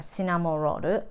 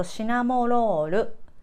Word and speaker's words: Cinnamoroll: Japanese, um, when we pronounce, we don't have an R sound, so we say more L sound. So cinnamoroll.